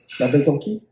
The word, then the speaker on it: La Belle Tonki: La Belle Tonki. Yeah, La Belle Tonki. Tonki. So there's no S at the end, so it's a French silent.